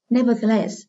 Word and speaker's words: nevertheless: Nevertheless, từ này là từ đặc biệt, các em lưu ý phải thuộc từ này, trọng âm rời ở less.